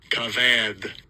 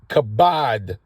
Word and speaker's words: kabad: himself strongs H 3513 cavad cavad to be heavy second entry okay so c c it's actually kabad you know these vs the way they pronounce it this is something else but it's kabad which is to be heavy